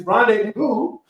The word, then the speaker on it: rendezvous: There's a Z in the middle of the word, and you don't pronounce the Z. It's Rendezvous.